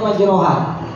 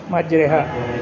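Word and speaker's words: مجريها: Imalah bismillahi majroha, tulisannya majroha. Tapi bacanya majreha. Majreha.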